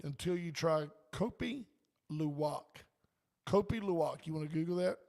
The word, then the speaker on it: Kopi Luwak: Kopi Luwak.